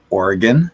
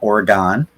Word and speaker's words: Oregon: get to use the National Guard in Portland, Oregon, not Oregon, right?